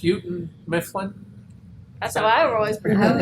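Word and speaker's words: Houghton Mifflin: name on books your whole life but it's pronounced uten Mifflin so I always pretend it's a minimun my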